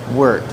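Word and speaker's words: wort: It's uh spelled W O R T, but it's pronounced like shirt. Wart.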